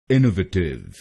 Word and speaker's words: innovative: पहला प्रोनाउंसिएशन है इनोवेटिव। इनोवेटिव। इस शब्द में 4 शब्दांश हैं। पहला शब्दांश है INN, दूसरा शब्दांश है O, तीसरा शब्दांश है VA और आखिरी शब्दांश है TIVE।